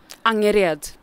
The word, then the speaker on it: Angered: And it was the, what was it, the Angrid? Am I saying it right? Is it angered or angered? Angered. Whoa, I was way off.